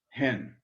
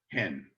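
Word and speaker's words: ἕν: So smooth breathing equals no pronunciation. Hard breathing equals the sound H. So this is N, and this is pronounced hen. Hard breathing. Sorry. There we are. Smooth breathing, N. Rough breathing, hen.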